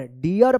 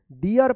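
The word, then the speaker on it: deer: है ना आर है, डबल ई के बाद अगर आर रहता है तो ईया उच्चारण होगा, ईया, ईया, ध्यान रखिएगा। जैसे यहाँ पे D double E आर, डियर पढ़ेंगे, क्या पढ़ेंगे, डियर पढ़ेंगे, डियर, क्या पढ़ेंगे इसको, डियर पढ़ेंगे।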